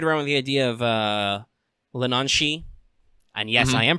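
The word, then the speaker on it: Leanan sídhe: I've toyed around with the idea of Lenanshi, and yes, I am pronouncing that correctly.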